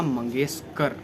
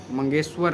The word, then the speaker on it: मंगेशकर: उनका नाम था लता मंगेशकर, मंगेशकर नहीं। जो आपने बोला है लता मंगेशकर, ये नाम गलत है।